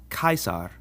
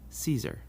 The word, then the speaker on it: Caesar: sound like a c so this name is pronounced kaisar not Caesar the same goes for the G it's always